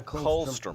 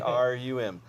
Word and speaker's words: colostrum: Comes out of Colostrum, yeah, colostrum. colostrum. Yeah. I used to pronounce it. COLSTRUM, colostrum, and that What's is that?